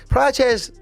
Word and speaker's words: Praça: What was the story with Praça? Praça, they were Praça Praça, is that how you pronounce that?